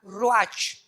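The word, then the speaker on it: ruach: hebreo es como suena rach r Raúl u a c h pero la ch en el hebreo se pronuncia como j r es la palabra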